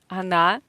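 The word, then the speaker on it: она: beginners it means she Ana uh so or is in unstressed Weak position without stress so we pronounce it as a AA again here we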